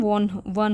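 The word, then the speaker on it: won: तो विन की second form वन होती है, इसकी प्रोनाउंसिएशन वन होती है, यानी कि वो जो हिरन था वो जीत गया।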